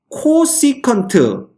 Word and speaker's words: 코시컨트: 그래서 요 놈의 이름이 바로 뭐냐 하면 코시컨트, 그지? 그래서 CSC라고 씁니다. 읽을 때는 코시컨트라고 읽고요. 그 다음에 요놈의 역수, 코사인의 역수를 우리가 시컨트라고 씁니다.